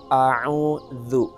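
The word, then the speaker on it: أعوذ: maka ini huruf da ketika kita baca a'udzu maka ini huruf dza padahal disana huruf yang tertulis adalah huruf ndak jadi kita membaca a'udzu a'udzu untuk bahan latihan kita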